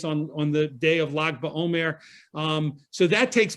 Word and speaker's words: Lag: gimmel which you pronoun which we pronounce as log is called lag ba omer the 33rd